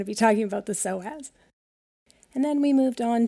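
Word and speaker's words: psoas: lower and connecting with the soaz and um that's spelled PS OAS and that's one big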